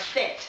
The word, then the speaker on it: cet: Ну, она читаться как будет, да, то есть будет всегда читаться как «set», да, потому что у